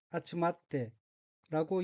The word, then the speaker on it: 集まって: 둘째 줄 왼쪽의 어휘는 한자가 모을 집자가 들어있고 일본어로는 아츠마테라고 읽으며 아츠마테는 모이다라는 뜻의 자동사 아츠마르의 태형으로 아츠마테는 모여라고 해석합니다.